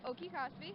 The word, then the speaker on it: Oki-Cospi: So it's actually pronounced Oki-Cospi.